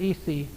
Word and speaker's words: Isis: We say it Isis, I-S-I-S, pronounced Isi. They would pray, in their homes, outside.